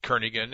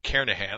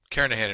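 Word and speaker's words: Kernighan: will be using the kernigan and Richie or karahan I should say the g is silent carahan and Richie C programming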